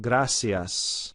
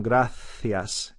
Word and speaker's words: gracias: like an s sam gracias in spain it's not it's a th sound so the word gracias and latin america would become grathias in spain very typical